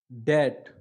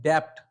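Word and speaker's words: debt: पहले एग्जांपल ठीक है तो इसको क्या पढ़ेंगे दत दी ऐसे अगर हम बिना साइलेंट को पढ़ने हैं जो गलत पढ़ने हैं क्या पढ़ने हैं डेप्थ लेकिन सही क्या पढ़ेंगे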